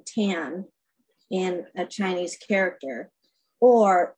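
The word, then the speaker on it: 谭: Ah Quin's real last name in Chinese is pronounced Tan in Mandarin, like the author Amy Tan of the Joy Luck Club. It is also pronounced Tom in Cantonese.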